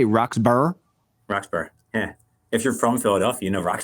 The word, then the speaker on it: Roxborough: Roxborough.